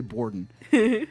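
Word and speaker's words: Bourdon: It's spelled like a French word, but I'm going to say Bordon formed the band Zero with an X after graduating with Shenoda producing hip-hop beats and rapping.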